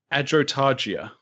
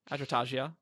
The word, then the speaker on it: Adrotagia: Adrotagia. Adrotagia. Yeah. Adrotagia. Whoa. Whoa. I'm going to do soft G on both Taravangian and See, I'm Adrotagia. coming back to that Nash sound with Adrotagia.